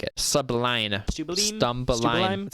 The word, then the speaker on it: Stumbleine: So I'll be a stumbling. Stumbleine.